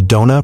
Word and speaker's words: Dona: Upon signing her to contract, the studio changes her name to Dona, pronounced as in Don, you wanna drink.